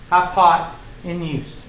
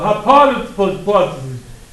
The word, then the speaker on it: hypotenuse: want to think about high pot in use and that's how you say it I would rather you say it like that than I don't know what it's called the hypot and you do that